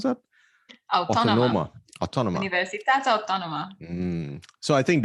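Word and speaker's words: Autònoma: you went to Barcelona, Universitat how do you pronounce that? Autónoma.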